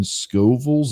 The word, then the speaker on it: Scoville: be eating the chip and it's 2.2 million scovilles is that a thing school was that how